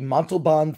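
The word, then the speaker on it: Montalbán: away from that is the montelbond theater uh just pronounced just like Ricardo's last name and uh it's a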